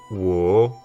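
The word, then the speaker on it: 我: Donc là, c'est un accent, il faut d'abord que ça descende et ensuite il faut que ça remonte. Donc c'est-à-dire qu'on va prononcer ça wo, wo.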